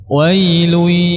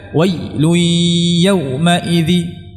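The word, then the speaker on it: وَيْلٌ: dialirkan wa coba semuanya wailu jadi tidak dibaca wauidzi yaumaid Lil mukadizibin tidak tapi dibaca wail yaumid Lil mukadzibin ya dibaca Nam ini sifat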